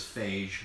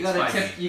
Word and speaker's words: Feige: So actually, Kevin Feige, is that how you pronounce his name? I used to think it was Phage, but it's You Feige. got to tiptoe around his last It's name. Feige.